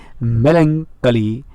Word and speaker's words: melancholy: Pronunciation of this word is melancholy. That means ch chemistry. That's why silent word.